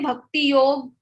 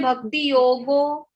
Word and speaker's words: Bhakti Yog: The point was, if you say Bhakti Yog, it's correct. If you say Bhakti Yogo, that is also correct. If you say Bhakti Yogo Nama, that is also correct.